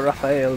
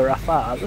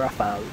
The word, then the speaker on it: Rafale: I should stop calling this thing the Raphael because it's the Rafale. I think that's how you pronounce it at least. It's just that I keep calling it the Raphael because when I was younger and I first played this game, I read it as Raphael, like the name, but it's not.